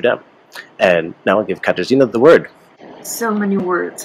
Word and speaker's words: Katarzyna: And now I'll give Katarzyna the word. So many words, hard to pronounce, I know. So it's Katarzyna, or shortly.